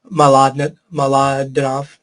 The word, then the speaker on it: Mlodinow: I can give you other ones as well, but the book is called Subliminal by Leonard Mlodinow, is the way you pronounce that.